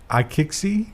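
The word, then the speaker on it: iQIYI: escape yeah yeah neat you know how to pronounce this no kick see thanks for visiting CNBC I kick see there's a Chinese streaming service that starts with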